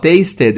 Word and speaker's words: tasted: Aqui, tasted é um verbo regular no passado. E o ED tem som de ED mesmo porque taste termina com som de T.